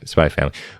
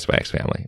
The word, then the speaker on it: Spy x Family: is byy family and I know you're not supposed to pronounce the X but I also think